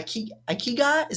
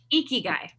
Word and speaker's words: ikigai: reason that it still fits your i i ikiga is that how you say it again icky guy icky guy yeah i wrote it down in